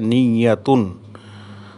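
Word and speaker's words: نية: নিয়াতুল আমাল, যেটাকে আমরা নিয়ত বলছি, সেটার আরবি উচ্চারণ হচ্ছে নিয়াতুন।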